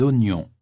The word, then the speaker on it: oignon: Des oranges, des ananas, des oignons, des aubergines. Attention, on prononce oignon.